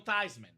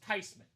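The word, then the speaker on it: Theismann: He was forever Joe Thyman. Years later, RIP, they asked the grandma, "Were you mad that Joe changed his last name?" She said, "No, it's actually pronounced Tyman."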